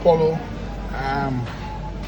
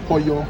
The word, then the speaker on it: pollo: You got some chicken here, what they call polo. Or you say pollo, as you pronounce it.